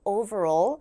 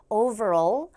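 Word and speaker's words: overall: 표현입니다 over all이라는 멘트인데요 소리 하실 때 소리 낼 때 발음할 때로 시작해서 over all over all 하면서 L 발음으로 끝이 난다라는 걸 잘 기억을 하시고요 over all 자 그다음에 뭐뭐처럼 보여요라고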